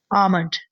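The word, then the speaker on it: almond: यह आलमंड नहीं है। एल जो है वह साइलेंट हो जाता है। ठीक है? यह है आमंड।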